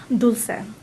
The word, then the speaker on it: Dulce: And you pronounce this Dulce? Dulce. Dulce. So Dulce is Dulce UpFront. It's a Spanish word for this candy.